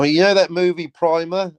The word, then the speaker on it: Primer: Apparently it's pronounced Primer, but it hasn't got two M's. Well, I always called it Primer. So. Right, so you know that. You're down with that. But it should have two M's.